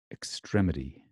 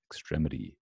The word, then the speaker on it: extremity: Extremity is the American pronunciation of that, correct? Okay, notice the d is like a t, which it becomes softened. Extremity, extremity. Okay, got that. In American English, t is usually softened to d when it is in